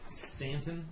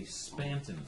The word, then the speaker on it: Spanton: It's listed as Stanton. It's actually Spanton with a P.